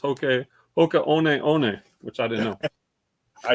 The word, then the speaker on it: Hoka One One: group like i used to say these are hoka one ones but apparently they're pronounced hokey oka which i didn't know i didn't know that